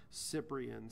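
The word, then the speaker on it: Cyprien: And can we get the name spelled out and pronounced? Yeah, I will absolutely do that for you. His first name is Wilner, W-I-L-N-E-R, Cyprian, C-Y-P-R-I-E-N, 31 years old.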